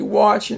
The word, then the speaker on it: watching: too much TV and again if you say use a short a it will be wax so it has to be watching again that W there is the influences the sound of the A and if you